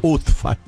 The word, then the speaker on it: Ubfal: Pero se pronuncia Utfal.